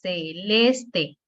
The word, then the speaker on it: celeste: Igual a celeste, tres sílabas, celeste. La penúltima, última, penúltima, les.